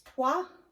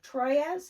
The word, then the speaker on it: Troyes: This is Trois, or Troyes, however you want to pronounce it.